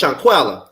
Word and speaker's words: Shanquella: Okay, so it's Shanquella.